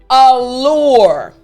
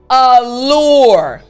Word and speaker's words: allure: of your tongue the tip of your tongue is hitting the roof of your mouth so again after me l good again l excellent so again the word after me allure good last time after me allure great job now let me